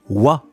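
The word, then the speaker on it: は: gagnent à aa mais qui se prononce ouah effectivement c'était la troisième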